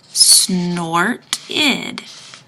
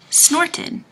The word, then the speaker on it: snorted: Now remember, when I get to ed, I have to say id because there's a T in front of the ed. Snorted. Snorted. And that's a 2-syllable word.